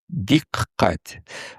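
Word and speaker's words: دقت: Значит, и вот, пожалуйста, вам примеры, да, например, диккать. Значит, вот это вот ташдид над буквой «каф» означает, что это «каф» читается дважды, диккать.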